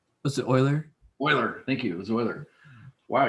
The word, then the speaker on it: Euler: mathematician what's the euler spoiler thank you zoey wow you even pronounced it right e-u-l-e-r euler not euler i guess he doesn't